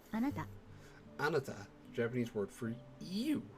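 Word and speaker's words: あなた: Anywho, would you like to listen to the pronunciation again? Watashi. Yep. Okay, so watashi. And let's continue. Ready for word 4? Anata.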